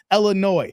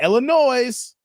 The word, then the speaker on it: Illinois: is separate entities Wisconsin Illinois not Illinois for all you out there that keep saying Illinois the S is not plural the S is silent and thank you o